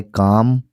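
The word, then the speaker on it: calm: एम आई काम? एम आई काम। Smell silent होता है इसलिए काम पढ़ते हैं।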